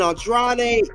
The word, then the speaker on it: Andrade: Andrade.